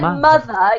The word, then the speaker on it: mother: m yes very good so with the word mother you have to voice it with a you just blow okay that's the difference